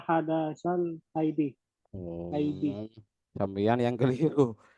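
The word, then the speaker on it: الحدث: dibacanya Tadi dibacanya rafa hadasil haidi. yang benar. Yang benar rafa hadasal haidi.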